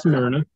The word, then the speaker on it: Smyrna: That's Smyrna.